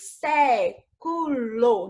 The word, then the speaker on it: século: Separando aqui, nós teremos século, não é isso? Então, última, penúltima e antepenúltima.